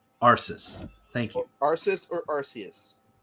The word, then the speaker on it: Arceus: Okay, is the C and S sound? Yes. Or is it okay? So it's Arceus. Arceus.